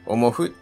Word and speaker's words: 思ふ: はしません昔はほんまにをもふ発音していたんですですの